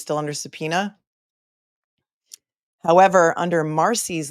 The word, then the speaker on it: Marsy: However, under Marcy's law, which is spelled Marsy, in Florida, the family of victims have certain rights.